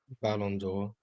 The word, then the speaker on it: Ballon d'Or: Ballon d'Or.